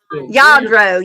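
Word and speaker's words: Lladró: Yadro.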